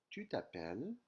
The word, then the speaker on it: tu t'appelles: So the S is actually silent. It's a lettre fantôme, a phantom letter. You don't hear it, but when you write it, you'll actually have to spell it. Otherwise, you'll get the spelling wrong.